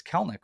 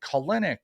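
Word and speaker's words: Kelenic: with Kelly I'm like it's kelnick right and he said yes and people were like colinic and and uh Kellen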